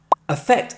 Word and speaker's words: affect: Affect and effect both have an emphasis on the second syllable.